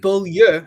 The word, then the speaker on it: Beaulieu: don't pronounce it that well, but Mm. Beaulieu You is the nailed it.